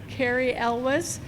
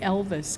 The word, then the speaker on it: Elwes: And I heard somebody vote for Cary Elwes. Yes, that is correct, of Princess Bride fame. I actually had to ask somebody how to pronounce that because I didn't want to say Elvis, Cary Elwes.